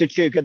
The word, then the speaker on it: Echuca: Echuca, I think it's pronounced. Oh no, it's Echuca. Yeah. No, it's Echuca.